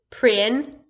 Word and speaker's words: princess: Remember, whenever there's an E, I, or Y after a C, it makes its S sound. So princess. Very good.